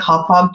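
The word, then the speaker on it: Hauppauge: It's Haupauge. It's in New York. Hau. Papauge. It's like hop-hog to me.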